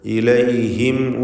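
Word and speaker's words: إليهم: ഇലൈഹിം എന്നതിൽ സാക്കിനത മീം ശേഷം വാവ്. ഇൽഹാർ ഷഫവി സൂക്ഷ്മതയോടെ വേണം, കാരണം ശേഷം വാവായതുകൊണ്ട് മീം അവ്യക്തമായി പോകാൻ കൂടുതൽ സാധ്യതയാണ്. വാവും ചുണ്ടിൽ നിന്ന് ഉച്ചരിക്കുന്ന അക്ഷരമാണ്. അപ്പോൾ ഇലൈഹിം വലാ യജിദൂന ഫീ സുദൂരിഹിം.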